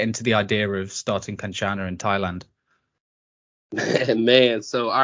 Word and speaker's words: Kanchana: So, Drew, you have Kanchana. I'm saying that right? Am I right? Yeah, Kanchana. The Thais pronounce it Gandana.